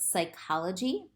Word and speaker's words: psychology: n are both pronounced when p s appears at the beginning of the word again the p is silent and just the s is pronounced like with psychology um and then when